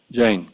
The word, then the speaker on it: Jain: Do I pronounce it Jain or Jain? Either way, it's fine. Jain.